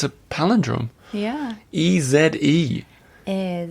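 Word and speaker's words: Èze: a paland drum yeah e z e is e z e for all you americ do not pronounce the last e is there there so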